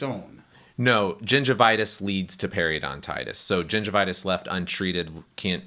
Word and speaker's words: periodontitis: can progress to more advanced gum disease called periodontitis where that is not just inflammation of your